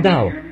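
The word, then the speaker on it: Daugh: Mais moi, je le prononce simplement Dow, vous voyez.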